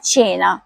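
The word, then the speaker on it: cena: پہلا لفظ تھا چینا, تو اس کا صحیح تلفظ ہے چینا, کیونکہ سی کے بعد اے آیا ہے اس لیے یہ چے کی آواز ہوگی, اور چینا کا مطلب ہے رات کا کھانا.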